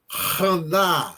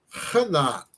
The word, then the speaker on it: Hana: Tem que puxar na garganta. Então, a palavra é rana. Rana. Raná em hebraico significa graciosa. Em alguns lugares a palavra foi transliterada, ou seja, modificada a sua pronúncia para um outro tipo de alfabeto. Haná em hebraico foi transliterada para Ana em português, por exemplo, né? Então o nome Ana é originário de Hana, de um hebraico que significa graciosa.